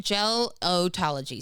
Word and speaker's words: gelotology: Gelotology. So it's like gel, like hair gel.